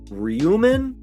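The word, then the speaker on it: Ryōmen: be their identifying name rumen because that's a o with the long line over it which indicates a long o sound and i know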